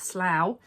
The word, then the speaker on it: Slough: Amy, it's Slough. You were right. Slough rhymes with cow.